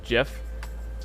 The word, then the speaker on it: GIF: the preview that's embarrassing the only way to honor the creator of gifs is to pronounce jeff jiff i could not agree